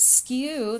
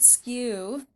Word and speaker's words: skew: And this is a new word for us, but skew, that's how you say it, skew.